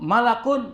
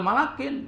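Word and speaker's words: ملكٌ: Jaahu malakun tuh harus bacanya enggak boleh malakin.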